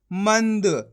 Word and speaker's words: मंद: मिलके बन जाएगा मंद दोस्तों इसका उच्चारण आधा ना के रूम में निकालना है आपको पूरा ना के रूम में नहीं निकालना अगर आप पूरा ना के रूप में इसका उच्चारण कर दोगे तो शब्द गलत हो जाएगा कैसे यहां पे